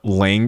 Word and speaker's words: Lange: Oh, someone said Jessica Lange is pronounced Lang.